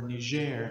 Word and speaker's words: Niger: I see it powerfully in the Christians that I live with in the country of Niger, or Niger, as we say it in the French pronunciation.